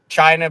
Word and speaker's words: China: The mayor of that city, China, it's spelled China, but China, Mexico.